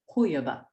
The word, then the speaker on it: huyaba: And so like adu, rock, became adupa, and huya, person, became huyaba. Huyaba. There we go. Got it. Stress is on the initial. Huyaba.